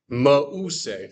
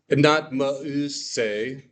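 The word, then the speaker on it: Μωϋσῆς: How do I pronounce this? Mause, right? Because we've got that diaresis, not mause as if of a umlaut, but mause, splitting those vowels.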